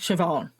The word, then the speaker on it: Siobhan: So the despite of how it's spelled, it's actually just pronounced Siobhan.